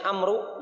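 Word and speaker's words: عمرو: Tulisannya Amru, dibacanya Amr.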